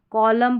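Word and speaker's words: column: इसको ऑटम पढ़ना है। ऑटम म न नहीं कॉलम पढ़ा, सोलम पढ़ा, डैम पढ़ा। डैम। तो इस तरीके से आपने ये याद रखना है कि एम एन के कॉम्बिनेशन में एन साइलेंट रहता है और लास्ट में रहता है ये कॉम्बिनेशन।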